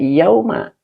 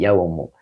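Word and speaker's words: يومُ: Makanya bacanya tidak yauma tetapi yaumu.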